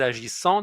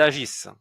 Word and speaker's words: agissent: On dit pas ils agissant. Non, ils agissent.